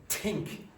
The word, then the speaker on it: think: So the difference between this one and this one, this TH and this one, is that that has vibration here and that has no vibration.